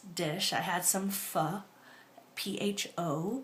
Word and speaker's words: pho: I had some pho, P-H-O, pronounced pho, in case you didn't know.